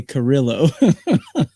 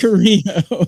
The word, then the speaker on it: Carrillo: Leave it to a guy from the East Coast to say Carrillo. Brian, we know how to pronounce that name, right? Is that an E? Is that a Carrillo? Is that what you think it is? It's Carrillo, yeah. Come on, Brian. We're from the West Coast.